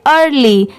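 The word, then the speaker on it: early: अब इसे ईयर नहीं पढ़ेंगे, अगर ये अलग होता सिर्फ EAR होता तो इसे ईयर पढ़ते, बट नहीं, EAR इसे अर पढ़ेंगे, और LY को क्या पढ़ते हैं, ली, पूरा मिला देंगे तो क्या हो जाएगा, अर्ली। AGE, इसे क्या पढ़ेंगे, एज,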